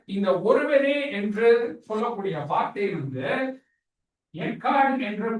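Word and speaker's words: אחד: ஆனா இந்த எபிரேய மொழியில இந்த ஒருவரே என்று சொல்லக்கூடிய வார்த்தை எக்கார்ட் என்று ப்ரொனவுன்ஸ் பண்ணக்கூடிய எபிரேய வார்த்தை.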